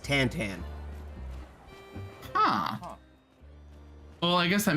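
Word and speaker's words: Tintin: So, are you familiar with The Adventures of Tinten? Yes. Do you know that's not actually how his name is pronounced? Really? So, in French it's pronounced Tantan.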